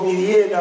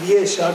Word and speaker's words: Vidiella: Y lo vamos a hacer en la figura de dos pioneros de esa industria, que son don Francisco Vidiera o Vidiella, como, depende cómo quieran pronunciarlo, y don Pascual Arriague.